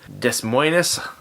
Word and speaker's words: Des Moines: This comes from Des Moines, Iowa. Des Moines. Oh, sorry, did I mispronounce that?